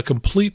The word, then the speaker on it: Compleat: Now, complete is spelled in a non-standard way. It's COMPLEAT. So it's The Complete Tail Dragger Pilot.